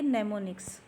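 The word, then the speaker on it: mnemonics: नजर आ रहा है एम एन ई एम ओ एन आई सी एस यह वाला इसको एम साइलेंट है हम इसको पढ़ेंगे नेमो निक्स फॉर एग्जांपल सब इंस्ट्रक्शंस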